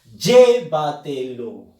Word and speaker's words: llévatelo: Por ejemplo, llévatelo. Fuerza de voz en la sílaba Y.